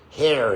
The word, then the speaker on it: here: There is an R there, okay? But we don't pronounce it in English.